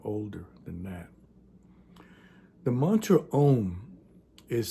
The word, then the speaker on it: Om: Think of the word Om as two separate words. You have two letters, O and M, two separate sounds.